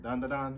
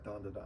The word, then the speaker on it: Dandadan: Dan Da Dan? Yeah, Dan Da Dan.